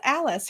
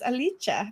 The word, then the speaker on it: Alice: I didn't know that it wasn't pronounced Alice her name is alicha because she's Italian so yes there's a lot